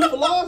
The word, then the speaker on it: Fila: You don't know about Fila's? What the fuck, you mean Fila? Some Fila's are dropping? Fucking Fila's. That's not how you say it, bitch. It's Fila's.